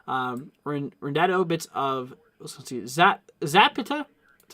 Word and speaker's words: Zapata: for bits of Rendado, bits of, let's see, Zapata. That's how you pronounce it.